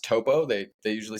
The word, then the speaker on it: Topo: the account will either be shocked that it's pronounced Topo they they usually say Oh I thought it